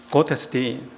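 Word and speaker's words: Gottesdienst: 독일어입니다 독일어로 예배라는 것은 곧에서 딘이라고 합니다 제가 발음 연습을 좀 했어요 그것 했었던 뒤에 st는 묵음입니다 고테스팅 영어만 하시다가 독일을 안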